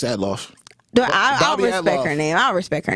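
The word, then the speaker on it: Althoff: her name is Bobby how do you say atof I want to say outof no it's atof do I I'll respect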